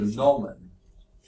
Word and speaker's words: gnomon: The other name for that one is called a gnomon. Never use that, but a gnomon. Sounds like the word for gnome, which are those ugly little figures they put in the garden.